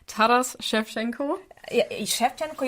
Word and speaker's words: Shevchenko: Yeah, Shevchenko, you must pronounce correctly, because it was such a famous Ukrainian football player, Andriy Shevchenko. And that's why people are pronouncing Shevchenko quite correct, yeah.